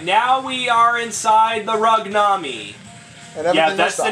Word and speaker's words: Rugname: Alright, now we are inside the Rugnami. Yeah, that's the name of the mothership, the Rugnami. And everything must die. Or as I should pronounce it, Rugname.